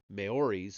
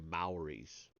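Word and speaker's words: Maoris: The theme resurfaces in Japan in Central America among the Mayoris of New Zealand and the Oh, I'm sorry, Mauies. Mauies, I think is how that's pronounced, of New Zealand.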